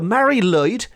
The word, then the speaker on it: Mari Lwyd: just to get everyone up to speed the Mary lyd which is spelled m a r i Mary lyd lwyd